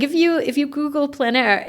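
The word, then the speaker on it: plein air: There's like a whole plan air underground. And plan air is spelled P L E I N. And then a second word is air. A I French for open air.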